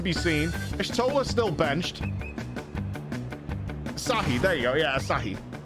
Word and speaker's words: Asahi: I'm gonna get his name wrong, but Asohi also down. Minfilia still nowhere to be seen. Ishtola still benched. Asahi, there you go.